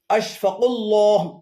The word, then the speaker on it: আশফাকুল্লাহ: এগুলোর শুদ্ধ উচ্চারণ হল আশফাকুল্লাহ। আশফা্লাহ সিদ্দিকুল্লাহ আশরাফুল্লাহ আহসানুল্লাহ।